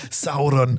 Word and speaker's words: Sauron: Je dis bien Sauron à la française, tu vois William Sauron quoi. C'est on n'est pas chez Saoron tel que moi je le prononcerai quand si je faisais une émission sur le Seigneur des Anneaux.